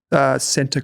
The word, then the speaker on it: Scentre: Centre Group. Yeah, Centre, yep. Right. But it's spelled, I can't believe how they spelled that. Shopping centre. SCENTRE. Centre. Like a shopping centre.